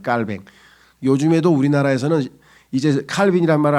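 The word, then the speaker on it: Calvin: 절대 주권을 주장하는 칼빈이라고 칼빈은 영어식 발음이고요. 그 사람들은 불로 왜냐면 스위스 사람이니까 불로 해서 깔뱅이라고 합니다. 깔뱅.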